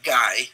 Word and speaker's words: Guy: His name is Guy, like Guy, but Belgians pronounce it Guy, French.